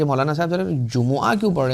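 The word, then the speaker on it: جمعہ: तो जुमा के दिन जुम्आ के दिन सही जो इसका प्रोनाउंसिएशन है ना वो जुम्आ है।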